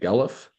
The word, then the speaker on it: Guelph: That's how you say it, Guelph.